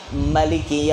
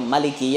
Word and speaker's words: Maliki: Kalau membacanya Maliki Yaumiddin, ma-nya panjang, itu 156. Kalau ma-nya pendek berarti 155. Maliki Yaumiddin. Boleh baca Maliki Yaumiddin itu dua, Maliki atau Maliki.